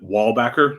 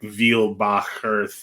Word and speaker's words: Weilbaecher: with this interaction because our family pronounces it wall backer like a wall and a back that does um but